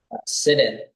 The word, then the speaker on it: Sidun: Real quick, just so I'm clear, what's the right pronunciation of your last name? Sit in. So Sidun.